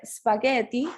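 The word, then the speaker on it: spaghetti: sí entonces tenemos que espagueti si se pronuncia con esa g dura sí que suena diferente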